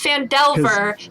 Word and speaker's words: Phandelver: um it's vandalsburg it's the lost mine of fendelver i think yeah it's fandelver but it's vandalin yeah you i hate it